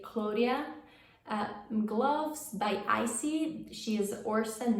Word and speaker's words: Claudia: the claudia claudia claudia claudia would be the italian pronunciation but let's say claudia gloves by icy she's